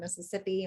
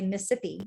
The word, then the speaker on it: Mississippi: And a lot of times in Mississippi, we don't say that whole word either. We say Mississippi. I say instead of, like, Mississippi. Mississippi. So we dropped the syllable there too.